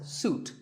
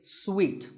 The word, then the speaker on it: suite: second syllable so hotel a related word is sweet this means a set of connected rooms in a hotel and this is wrongly pronounced by many people as suit but it's sweet like when you eat a